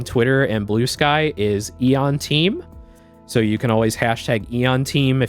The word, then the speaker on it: Aeon: to put anything in there uh yeah it's pronounced Eon like e like e o n yep my